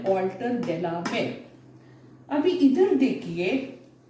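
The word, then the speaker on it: Walter de la Mare: Walter Delamere, इसका pronunciation Walter Delamere.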